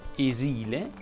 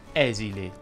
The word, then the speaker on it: esile: eleva e ben che anticamente si dicesse esile oggi è più comune dire esile a la s e sonora in realtà esile si